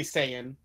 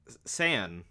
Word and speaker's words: Saiyan: Just so everyone knows, he meant to say Saiyan. San. Continue your story. I pronounce it right.